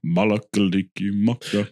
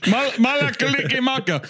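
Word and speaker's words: Mele Kalikimaka: I'll tell you what my favorite is Malakaliki Maka. I love that one. Malakaliki Maka is a thing to say. It inherently doesn't sound Christmassy. Malakaliki Maka.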